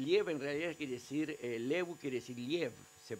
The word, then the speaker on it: Lew: de odesa El liev en realidad quiere decir levu quiere decir lev se pronuncia y quiere decir León un animal de